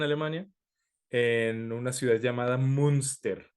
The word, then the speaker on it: Münster: Entonces vamos a ubicarnos ahorita en Alemania, en una ciudad llamada Münster, así M-U diéresis Münster, Münster, una cosa así se pronuncia.